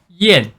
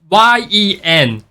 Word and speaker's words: Jiyan: one wrong for how it spelled it actually pronounced like yen is ye n but with lower pitch Yen I know English